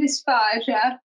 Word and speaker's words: dysphagia: And by the way, I've heard this word pronounced two different ways, dysphagia and dysphagia, and by different healthcare professionals, I prefer saying dysphagia.